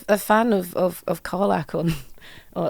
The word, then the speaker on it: Karlach: There was there was a a fan of of of Karlach on or a fan apparently pronouncing it Kayla. Kayla? kept saying Kayla.